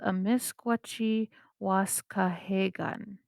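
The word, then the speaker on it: amiskwacîwâskahikan: called what you see on your screen it's pronounced a misgucci wasca hagan beaver hill house that's what it translates to so it's called a misquachi wasca hey gun that's what edmonton used to be called in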